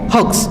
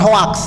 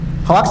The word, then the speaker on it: hoax: Cara baca yang benar hoax, bukan hoax ya. Hoax cara baca orang Indonesia. Kalau pronounce Inggrisnya hoax.